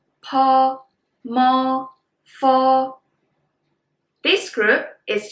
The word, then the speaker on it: po: Bo is for bop, po is for pop, mo is for mop, fo is for follow. Well, bo and po, these two are very similar, but then the